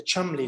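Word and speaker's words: Cholmondeley: going back just over 400 years of the chumley ladies so it is indeed spelled troll mondally but it's pronounced chumley they look very familiar to one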